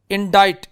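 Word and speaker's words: indict: इंडाइट, इसमें सी साइलेंट है, और ये वर्ड चिप्स में हमने देखा था इंडाइटमेंट, ठीक है।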